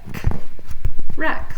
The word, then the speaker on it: wreck: okay here we go remember the W silent wreck like a shipwreck okay the G silent Oh